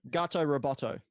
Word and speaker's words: Gato Roboto: this could be I don't know how to pronounce it could be gato Roboto or a could be gate Oh Roboto gato Roboto thank you so this is a nice little